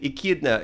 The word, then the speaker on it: Echidna: I'm not sure how to pronounce it. Echidna.